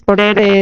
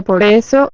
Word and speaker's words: por eso: La palabra más común que no la sabe pronunciar bien es porere eso cuando realmente se pronuncia por eso.